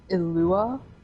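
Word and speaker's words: Eula: her brother i believe her real name is illua it's spelled e-u-l-a yeah she took over his mantle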